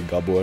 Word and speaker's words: Gabor: Okay, we tried to kill Gabor. Gabor is a Hungarian name. I'm just pronouncing it like how it's pronounced in Hungarian now. But I suppose I can say Gabor as well.